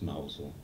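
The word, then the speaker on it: Mousehole: in mouse mouse hole spelled mouse holes pronounced mousel in cornwall the southwest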